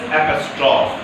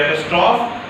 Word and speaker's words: apostrophe: The third is apostrophe. What is pronounced? Apostrophe. Say apostrophe.